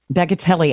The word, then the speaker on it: Bagatelli: And he spells it bagatelle, but he pronounces it bagatelli.